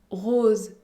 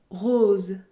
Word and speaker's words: rose: Par exemple, rose, rose. Je ne prononce pas la lettre E.